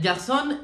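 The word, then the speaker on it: Garçonne: And Garçon is actually said Garçon. This one threw me off a little bit because obviously I speak French and the pronunciation would normally be Garçon, but there would not be the N-E on it, which really means male in French. But she added the N-E and made it more Spanish, and I was like, okay, work, girl.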